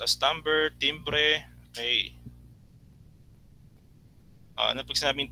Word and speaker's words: timbre: It pronounced as timbre, timbre.